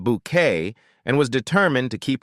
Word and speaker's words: Bucket: A lady who always wanted to climb the social ladder pronounced her name bouquet and was determined to keep her appearance perfect in all situations.